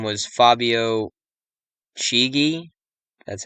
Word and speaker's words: Chigi: This fire started 201 days after the Pope's birthday, whose name was Fabio Chigi, that's how you pronounce it, a name equating to 201 as well.